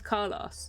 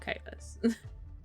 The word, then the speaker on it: Carlos: His name's Carlos, not Kalos.